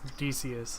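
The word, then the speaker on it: Dacis: It's Deius is how it would be pronounced.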